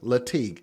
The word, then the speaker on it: Latigue: Make sure we pronounce her name correctly and spell it correctly. K E I K M A N I. Kimmani Latig. L A T I gu.